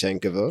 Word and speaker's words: Pavlyuchenkova: You pronounce the last name, please. Pavlyuchenkova.